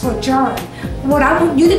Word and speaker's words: Lejeune: The correct pronunciation of the word Lejeune is truly pronounced Lejeune, and that's because Lieutenant